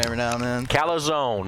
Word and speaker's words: calzone: Yeah, he talks me into a calzone every now and then. Calzone, not calzone, calzone. If you don't believe me that's how it's pronounced, just ask old Dave Mills.